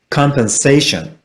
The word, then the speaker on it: compensation: compensation.